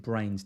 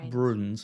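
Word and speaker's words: Bruyns: It's Brains. You pronounce it Brains. Damien Brains. Can you remind me if I ever say Bruns like he's some kind of Scottish, like, I don't know, guy up in the...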